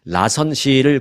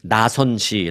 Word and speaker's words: 라선시: 3박 4일 동안 북한의 라선 시를 관광하는 여행 상품을 판매하고 있습니다 뭐 우리가 남쪽에 우리 대한민국 사람들은 나선시 하는데 북쪽에서는 이제 라선시 라고 하죠 그 같은 북쪽 발음 식으로 하면 라선 시를 방문합니다 자이 여행사는 북한으로부터 해외